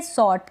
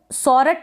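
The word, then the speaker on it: sort: silent है next है सॉर्ट क्या है सॉर्ट आप इसको सरट ना पढ़े सॉर्ट पढ़े सॉर्ट का मतलब होता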